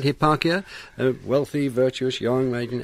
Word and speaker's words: Hipparchia: he was wooed by a virtuous maiden called Hipparchia. Is that how I pronounce it? That's right, That's yes. right, Hipparchia, a wealthy, virtuous, young maiden.